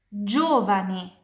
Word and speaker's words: giovane: Kapan G diikuti dari E dan I, pronunciasinya kayak J di bahasa Indonesia. Jadi, gelato, es krim. Giovane, muda. Pronunciasinya kayak jalan, jeruk.